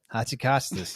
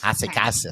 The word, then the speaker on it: Hotzikostas: I was like, how do we say her name? And she came with Hotzikostas. Hotzikostas. That's right.